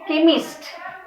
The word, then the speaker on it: chemist: And then chemist. K. chemist. Chemist. Then change. change. Children, very small difference. Okay. See, some side we pronounce ch as ch, and some words we use or pronounce like as k.